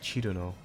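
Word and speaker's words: Cirno: People often say her name in different ways, the most common being she's the snow fairy, Cherry Moo. I love Cherry Moo. Surno, Cyrno, and Chirno. Her name in Japanese is Chiruno, but personally I say Surno or Cyrno.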